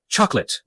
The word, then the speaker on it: chocolate: on the last syllable the at ending is pronounced it chocolate next time let's focus on how to pronounce